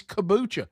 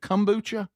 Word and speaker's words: kombucha: And I was like, but it's kabucha now. I'm saying it and I can't even say it right. But uh but yeah, you got to be real. You got to be Is it kombucha?